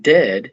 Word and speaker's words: dead: And dead, it said, like bed, not bead.